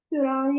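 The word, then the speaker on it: furan: फ्यूरान या फ्यूरेन को ऐसे प्रोनाउंस करते हैं।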